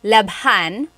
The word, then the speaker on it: labhan: And here it is, labhan. We had to add an H there just for pronunciation. That's kind of how they make the word flow.